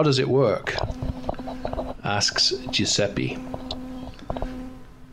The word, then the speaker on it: Giuseppe: Sorry, Giuseppe, which is the correct pronunciation, okay. Giuseppe.